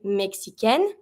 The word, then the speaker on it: Mexicaine: Careful here. Keep in mind, every time that you have the final I at the end of a noun, you always have to pronounce the consonant that's just before that I. So here, when you have une Mexicaine, feminine, you're going to have to pronounce your N.